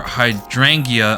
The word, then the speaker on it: hydrangea: Ideal Detective has only just arrived here, but her hydrangea eyes, glimmer.